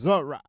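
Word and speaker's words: זרע: The shemetic Hebrew word for seed is pronounced zor.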